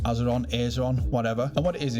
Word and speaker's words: Azeron: And it's called the Azerum. Well, I think it's pronounced azeron, whatever.